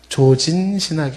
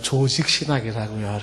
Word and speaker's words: 조직신학: 발음을 잘해야 된다 그랬죠? 조진신학이 아니라 조직신학, 이렇게. 자꾸 국장님이 조진신학, 이래. 조진신학이 아니라고요. 조직신학이라고요, 이렇게. 그쵸?